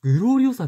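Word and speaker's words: グロリオーサ: 目グローリオさニンバあグローリオさって読むたニンバじゃないんだいつもニンバニンバ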